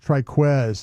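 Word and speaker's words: Trikweze: Triquz is how we say that.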